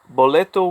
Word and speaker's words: boleto: So at the beginning of sentences, the letters B and V are both pronounced like an English B. For example, we have the word boleto, which is ticket.